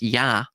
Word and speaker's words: Ea: Akkadian, it's Ea, which is pronounced Yah, right? Hence Yahweh later on in Westerns.